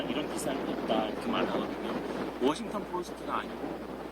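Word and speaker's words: Washington Post: 워싱턴 포스트가 아니고 워싱턴 포스트. 그래서 포스트에서 앞에 강세가 있기 때문에 뒤에 트 발음은 거의 안 들리는 거거든요.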